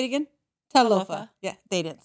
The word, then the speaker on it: Talofa: Talofa.